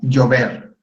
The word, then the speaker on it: llover: Okay, so there's also a double L that they use a lot in Spanish, and this is pronounced like a Y in most countries, except like in Argentina, they pronounce it a little bit like a J.